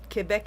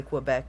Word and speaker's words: Quebec: preferred pronunciation of Quebec uh Quebec is good because it's the French way of saying it okay English people will say Quebec but either way we understand you're talking about us I always want to